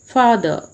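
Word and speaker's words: father: एक चीज़ मैं आपको बताना चाहूँगी कि आरपी प्रोनाउंसिएशन में लास्ट में जो आर आता है उसको प्रोनाउंस नहीं करते हैं, इसीलिए हम फादर को फादर मदर ऐसे प्रोनाउंस ना करके फादर मदर इस प्रकार से प्रोनाउंस करते हैं.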